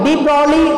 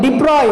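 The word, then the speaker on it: de Broglie: அதை எப்படி வந்து ப்ரொனவுன்ஸ் பண்ண அப்படின்னா டிப்ராய் அப்படின்றது ப்ரொனவுன்ஸ் பண்ணும். டிப்ராய் அலை நீளம், டிப்ராய் வேவ் லென்த்து, டிப்ராய் வேவ்ஸ் அப்படி தான் நம்ம படிக்கணும். டிப்ராலின்னு படிக்கக்கூடாது, அதை டிப்ராய் அப்படின்றது நம்ம படிக்கணும்.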